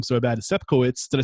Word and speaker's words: Sepkowitz: Sepkowitz.